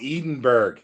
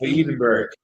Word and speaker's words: Edinburgh: So no, Edinburgh. It's Edinburgh.